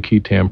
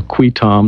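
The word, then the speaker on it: qui tam: main parts of the kitam provisions or qui-tom depending on how you want to pronounce it provide for a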